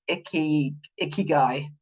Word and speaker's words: ikigai: I always call it ikigai, but actually it's not, is it? There's too many syllables in that. It's ikigai.